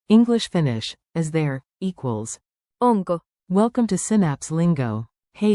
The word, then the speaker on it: onko: Clap 2 beats, on ko. On ko. Now say it with a rising question tone.